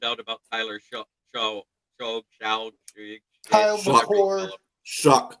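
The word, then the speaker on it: Shough: His name is pronounced shuck. Many I don't even know how the hell you pronounce that name shuck when it doesn't even sound like that. It looks like show to me. Mhm. It spelled like dough.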